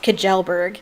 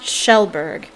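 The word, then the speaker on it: Kjellberg: and everybody think it's everybody thinks it's pronounced kajelberg but it's pronounced shelberg so i'm wondering if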